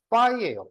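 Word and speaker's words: φ: 그러니까 그리스 문자를 하나를 가져와서 공집합 기호로 쓰고 있는 건데 이것은 어떤 발음이냐면 얘가 파이예요, 파이.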